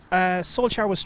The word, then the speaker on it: Solsjkaer: Solsjkaer is Irish bred.